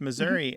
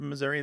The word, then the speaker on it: Missouri: see here it's not Missouri alone that is sometimes pronounced with that e becoming an a there are other words